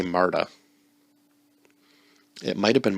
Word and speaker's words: Marta: and her name was i'm gonna say marta it might have been martha but it's spelt m-a-r-t-a